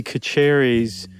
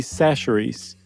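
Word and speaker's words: Chachere's: I don't know if you guys remember or not, but I mispronounced Tony Kacheri's seasoning, Creole seasoning. It turns out it's Tony Sashery's.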